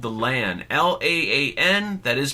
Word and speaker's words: LAAN: Well, I do know the name of the device is called the LAAN. L-A-A-N. That is pronounced correctly.